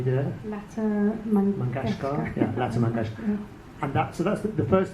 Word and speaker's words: Lata Mangeshkar: artist whose name I'm not very good at pronouncing. Can you do it? Lata Mangeshkar. Yeah, Lata Mangeshkar.